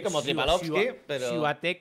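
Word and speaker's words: Świątek: Siuatek, ¿cómo se pronuncia? No, esto es Swiatek.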